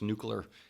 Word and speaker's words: nuclear: Whether it's nuclear. I love when people say it like that. Nuclear. There's no U there.